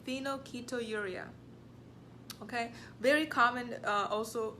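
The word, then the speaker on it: phenylketonuria: so far we've done four okay number five phenol keto urea let me spell it for you p-h-e-n -yl k e t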